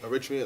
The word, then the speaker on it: Eritrean: Like there was like a how you pronounce it? Eritrean. Eritrean.